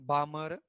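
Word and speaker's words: Balmer: तो Lyman series, second लिखा बाल्मर series, Lyman बामर L silent, पाश्चन ये जब भी एग्जाम होगा ना तुम्हारा आएगा किसी एक को एक्सप्लेन करने के लिए।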